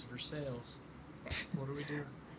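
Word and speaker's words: Versailles: A lot of people saying vers sales. All right. Yeah. Ryan, come on. It's for sales.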